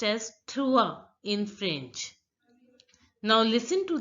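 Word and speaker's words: trois: the pronunciation of so 3 is pronounced as true in French now listen to the voice of the Native French speaker TWA again food is pronounced as cut re now listen to the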